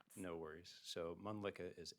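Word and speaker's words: Mölnlycke: because it's kind of hard to spell and pronounce. No worries. So, Mlicka is M O L N L Y C K E.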